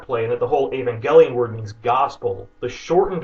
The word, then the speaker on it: Evangelion: way instead of Ava the first syllable of the word is supposed to be pronounced exactly like the female name Ava how would you pronounce